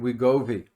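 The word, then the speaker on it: Wegovy: called that brand name wegovi again G with a hard G we go V so I guess the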